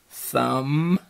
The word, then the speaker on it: thumb: Then we have the MB, spelling at the end, like in thumb, and lamb, comb. You don't hear the B sound, but it's spelled with a B.